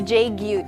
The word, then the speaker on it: JGYU: Did I pronounce the company correctly? Yes, JGYU, Tito Ferdi.